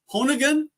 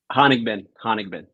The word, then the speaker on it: Honigman: So, Honigan? Honigman. Honigman. Man, I butchered that so bad.